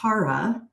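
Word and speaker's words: χαρά: word for joy is Cara spelled CH but pronounced like the CH in Charisma and joy shares its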